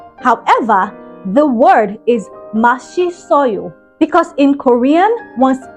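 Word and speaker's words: 맛있어요: It says Masisoyo. That's how that word is pronounced, based on the romanization that you're seeing on the screen, right? However, the word is Mashisoyo, because in Korean, one's S, which is known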